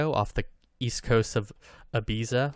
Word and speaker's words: Ibiza: the east coast of ibiza or ibiza if you uh are using the spanish catalan pronunciation of that sound well played josh yeah